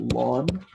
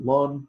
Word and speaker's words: ln: we will pronounce it lon some people pronounce it long some people pronounce it Ln but is natural logarithm